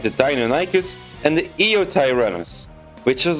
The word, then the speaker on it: Deinonychus: The raptors you see in Jurassic Park were actually more so based on Deinonychus. Wow, I pronounced that badly. Let me try again. Deinonychus, which was a bit larger.